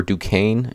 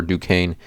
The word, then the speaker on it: Duquesne: is going to be Kevin Easley Jr for Duquesne and again that's how you pronounce it Duquesne I like his over 11 and a half